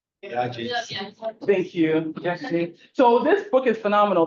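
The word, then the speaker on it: Gyasi: Yashi.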